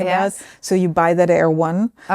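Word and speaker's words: Erewhon: It's written completely differently. You spell it air1. It's kind Sounds like like something military. A r e w h o n and it's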